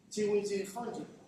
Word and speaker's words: Csikszentmihalyi: ¿Alguien no sabe pronunciar este de Mihaly? Csikszentmihalyi, ¿vale?